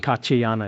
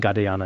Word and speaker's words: Katyayana: So, in our pronunciation sometimes saying Katyayana is fine and Gadayana is also fine.